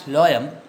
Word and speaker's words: phloem: You just pronounce it as phloem. Otherwise, you will mess with the spelling. Anyway, in examination, nobody is asking for the pronunciation. Okay, it is pronounced as phloem.